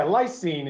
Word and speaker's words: lysine: for what Armani yeah lysine is how you say it a a g and